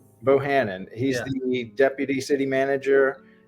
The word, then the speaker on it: Bohannon: How do you pronounce your last name? I don't want to say it wrong. Bohannon. Bohannon.